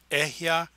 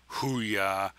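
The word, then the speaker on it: אהיה: from the Kish linrad they would see that it is ehya AER ehya not ha AER haa or hya AER haa there is no Hebrew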